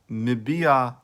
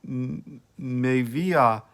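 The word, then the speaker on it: מביאה: This translation assumes that the unvocalized Hebrew text Mivia Achat is to be pronounced Mibia Achat. Others, however, have assumed that it is to be pronounced Mevia Achat, however.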